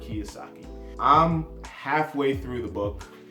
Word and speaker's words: Kiyosaki: Fourth book, Rich Dad, Poor Dad, Robert Kiyosaki. Ooh, I said it wrong. Robert Kiyosaki.